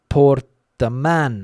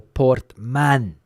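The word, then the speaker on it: Portmán: of Spain, a place called Portman, I think it is, or Portman. The accent on the A in the word there, Portman in Murcia.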